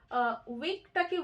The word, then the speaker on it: wicked: কেটটা খুব ইডি এইভাবে বলবো না, উইকটাকে উইক বলবো, আর লাস্টে ইডিটাকে একটু হালকাভাবে প্রোনাউন্স করতে হবে, ইট বলে, উইকেট এইভাবে, আ উইকেট পারসন।